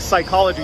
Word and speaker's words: psychology: We have many PSYs, and in American English, you never pronounce the P in a PSY word. Like psychology, you never say psychology or psychology.